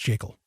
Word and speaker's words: Jekyll: Yes, it's pronounced Jekyll.